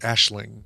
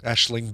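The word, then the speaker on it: Aisling: just learned this week that a-i-s-l-i-n-g is pronounced ashling ashling b oh my lord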